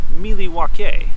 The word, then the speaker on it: Milwaukee: It's actually pronounced Milwaukee, which is Algonquin for the good land.